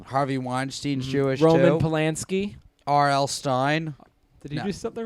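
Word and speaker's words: Stine: gotta keep track um R.L Stein Robert Lawrence Stein but it's spelled s-t-i-n-e so wait sometimes known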